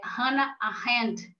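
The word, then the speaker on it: Hannah Arendt: legal sobre a eh Hana arend ou hann eh arend se formos pronunciar em inglês ela tem uma obra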